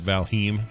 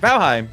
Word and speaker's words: Valheim: valentine well yeah yeah valheim was just to be you know annoying but valheim is actually how you say it at least that's what i've been told now and corrected many times keep keep in mind